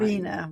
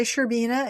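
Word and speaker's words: Shcherbina: Sherbina. We'll say Sherbina. It's lots of shs.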